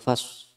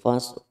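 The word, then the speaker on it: فصل: Ini lamnya ini dibacanya tidak boleh hilang. Jadi bacanya bukan laqaulun fas, salah. Bacanya harus innahu laqaulun fasl seperti itu. Masih ada lamnya.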